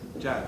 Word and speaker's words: Jad: Jad rhymes with dad.